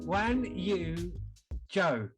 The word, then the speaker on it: Guanyu Zhou: Wan Yu Zhou. Okay. So the way you pronounce it is the other way around.